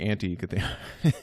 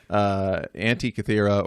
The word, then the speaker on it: Antikythera: And so there's no Kythera mechanism, and this isn't the anti-Kythera. So it's a Greek island, Antikythera or Antikythera, however British you would like to pronounce it, but Antikythera mechanism.